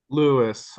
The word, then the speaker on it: Louise: right would be lisis is it Louis or Louise Louis I prefer to to have my name pronounced Louis even even though who my name is spelled Louise we're glad you're here